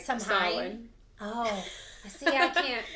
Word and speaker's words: Samhain: Happy, okay, how do you say it? Samhain or Samhain or that's okay. But it's really like Samhain.